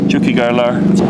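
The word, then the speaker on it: Tiocfaidh ár lá: Chukik Garlar. Chukik llegará nuestro día. Llegará nuestro día. Chukik Garlar. Alguien que no habla gálico, que habla en español, si ve eso escrito, va a saber cómo pronunciarlo bien.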